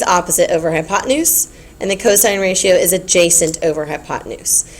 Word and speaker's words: cosine: Remember, you pronounce this s and you pronounce this cosine. You don't say sin or cost cuz that really gets on my nerves.